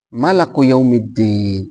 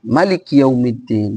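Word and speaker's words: مالك يوم الدين: Dia bacanya malak yaumiddin. Harusnya maliki yaumiddin.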